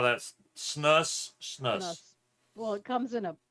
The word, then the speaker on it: snus: So, Scott pronounces it snooze. Snus, snooze. Snooze. Like Seuss. Snooze? I've never. Yes, Dr. You're killing me, Smiles. Snooze rhymes with loose, moose, Kitty obtuse.